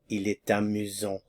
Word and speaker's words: il est amusant: So, the masculine singular form would be Il est amusant. Il est amusant. And notice I have a little bit of liaison here. It's amusant. Il est amusant.